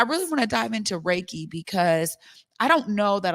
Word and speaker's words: Reiki: Reiki thank you so Reiki the last syllable that key that really is what most people are familiar with because we know it as Chi the chi moving through